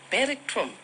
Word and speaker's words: Beric Croome: Yeah, Beric Croome. Did I pronounce nicely?